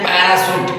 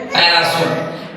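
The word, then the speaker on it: parachute: ए सी एच यू टी ई इसको पढ़ते पैराशूट क्या पढ़ते हैं? पैराशूट।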